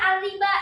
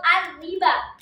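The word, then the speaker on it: الربا: Ketika membaca alriba di sini tulisannya seperti ini. Ada yang membacanya panjang? Ada yang membacanya panjang. Dibacanya panjang. Antiba atau arriba? Panjang. Oke, clear. Kita baca panjang.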